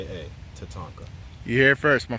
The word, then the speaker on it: Tatanka: will let it sign but this is a Tatanka I just want y'all to know one more time Tatanka t a t a n k a Tatanka you hear it first my friends